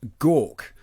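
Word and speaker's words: gagh: delicacy apparently is a serpent worms pronounced gawk connoisseurs of klingon cuisine uh claim that gar is best served very fresh or gork is served very fresh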